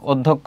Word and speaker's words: অধ্যক্ষ: এটা হচ্ছে অধ্যক্ষ, অধ্যাপক হচ্ছে এটা, আর অধ্যক্ষ হবে এটা, ওদ, তারপর হবে ধোক, তারপর হবে খো, অধ্যক্ষ, এটি হবে।